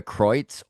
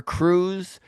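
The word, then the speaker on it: Kreutz: Uh she pronounces her name Julia Croitz or Cruz, which does get confusing. Everyone there on Sportsnet calls her Julia Croitz. And so I get the feeling that that's her actual preference as to how you say her name.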